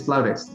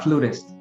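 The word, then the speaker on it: flautist: it flautus it is it is the correct pronunciation is floutus not flutist okay flout is good and and help me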